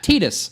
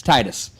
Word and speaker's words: Titus: Like Tetus. No, it's it's Titus. It's Titus.